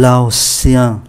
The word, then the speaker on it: laotien: phát âm là sien, un laotien, viết là T-I-E-N, T-I-E-N phát âm là sien, un égyptien, un laotien.